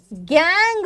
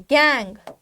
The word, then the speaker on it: gangue: इन सभी earthy, Sandy, Rocky impurities को मिला करके अपन क्या बोलते हैं, गैंग बोलते हैं। गैंग, स्पेलिंग देख लो, GANGUE, गैंगू नहीं बोलना है, गैंग, ठीक है।